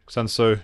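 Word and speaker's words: Sun Tzu: Sunsu. Is it Sunsu? Sunsu.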